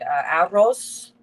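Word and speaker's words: arroz: We made aros gandulos doulles. Aros. Remember that when you have two Rs, you roll that R, honey.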